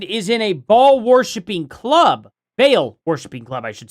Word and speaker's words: Baal: Your husband is in a ball-worshipping club, Baal worshiping club, I should say. She says Baal, and now I'm saying Baal. It's pronounced Baal.